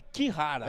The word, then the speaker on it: Kihara: Ô Marcelo, aqui aquela nossa dúvida em relação à pronúncia do Kihara. É Kihara. É Kihara mesmo? Kihara, a Daiane tá falando.